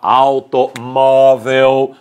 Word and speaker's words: automóvel: compra um automóvel pela automóvel palavra terminar em l a penúltima sílaba é mais forte por isso acento agudo se não houvesse